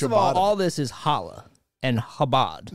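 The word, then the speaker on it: challah: don't mean first of all all this is Hala and habad say it right say it habad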